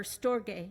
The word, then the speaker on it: storge: One of them was familial, or storge. Storge is how you say it. It sounds weird. Looks like storage, but it's not.